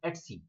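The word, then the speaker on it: /etc: start the machine let's see people call it EDC it's actually pronounced as XC the axis will be storing all your configuration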